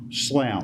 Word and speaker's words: Slough: name is pronounced L Slough Slough yes sir think just like plough but okay I answered anything close to that oh thank you very kindly mr.